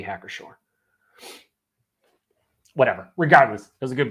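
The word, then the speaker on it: Hacker-Pschorr: if so my apologies he says no pronounce sure okay okay heck or sure that's that's what i thought but i could have swore you pronounce the p it doesn't sound like you should though it definitely sounds like it should be hack or sure whatever regardless there's a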